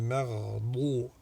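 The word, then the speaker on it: المغضوب: Pareil pour le maghdubi, il faut éviter de faire une del mufakhama. Ghayril maghdubi. Il n'y a pas de passage d'air.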